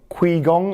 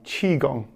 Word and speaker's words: qigong: we were rehearsing uh most people get it wrong because of the way it's uh kind of spelt with a cue and an i so qui gong i get quite a lot okay but it's like c h i chi gong chi is energy right so